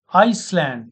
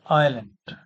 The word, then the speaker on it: island: Iceland is not the correct pronunciation. It is island.